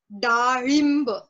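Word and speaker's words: डाळिंब: Now coming to this ro pronunciation, there's one more fruit which has this ro Pronunciation. pronunciation. Okay. That is pomegranate. A pomegranate is called as darimb. Rim. So again that ro comes.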